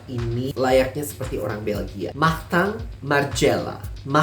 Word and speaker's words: Martin Margiela: Martin Margiela. R seperti biasa. Tang, I jadi A. Martin Margiela.